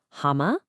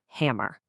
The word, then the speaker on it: hammer: So in the UK you might hear hama without that hard R, but over in the US you get that strong R sound, hammer.